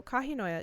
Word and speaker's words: Kahinoya: So, Kahinoa. Yeah, that's pronounced.